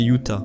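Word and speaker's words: Utah: Les tribus locales de la région s'appelaient les hutes, mais les espagnols l'ont prononcé Uta.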